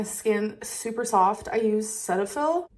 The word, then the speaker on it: Cetaphil: we went over this it's pronounced Cetaphil Cetaphil not Cetaphil and this oh you